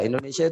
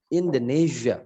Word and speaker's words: Indonesia: Kayak Indonesia. Indonesia itu bahasa Inggrisnya gini. Indonesia. Ditiup. Indonesia.